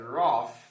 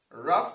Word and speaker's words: rough: guess how it's red if you try to guess the cough sound the behind of o-u-g-h is pronounced off and you said roth you would be incorrect r-o-u-g-h is red rough ruff does not rhyme with cough neither does it rhyme